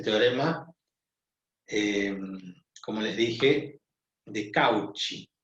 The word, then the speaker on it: Cauchy: Esto los franceses lo pronuncian como Cauchy, pero es un teorema